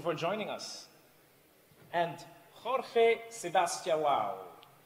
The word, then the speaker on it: Sebastião: And Jorge Sebastião, did I pronounce that correct? Sebastião, better? Jorge is correct.